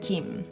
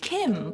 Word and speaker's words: gim: This is gim. You might hear it pronounced kim, but in this video, let's call it Kim, which is closer to the original Korean pronunciation.